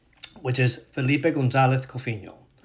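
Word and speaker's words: González: name which is Filipe Gonzalez Coffinho. When I say Gonzalez, you hear the th the lisp sound. I don't say Gonzalez.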